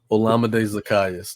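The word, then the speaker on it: Olamide Zaccheaus: Olamide Zacchaeus. That's crazy. I couldn't pronounce his name right the whole year.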